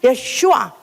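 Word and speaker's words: ישוע: 사실은 예슈아, 여호수아, 사실 그게 그 이름이 똑같은 이름이라고 그래요. 그래서 바로 하나님의 이름, 바로 아버지의 이름 예수아가 가져온 이름이 바로 예슈아, 바로 하나님의 이름이다 이 말이에요.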